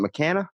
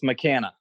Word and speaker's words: McKanna: now how do you see your lesson isn't mccanna yes mccanna first try look at that I'm getting better at these name pronunciations I'm impressed man and so wait give